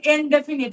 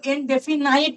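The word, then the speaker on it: indefinite: আচ্ছা, এটা কিন্তু ইনডেফিনিট, হ্যাঁ, কেউ ইনডেফিনাইট নয় কিন্তু, এটা ইনডেফিনিট।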